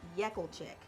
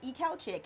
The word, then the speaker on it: Ekelchik: It's actually pronounced Yekelchik, Yekelchik. but I said I will not be called Gloria Yekelchik. So I kind of started pronouncing it Ekelchik, and people still have a hard time. So I said, say the E first, and everything else follows.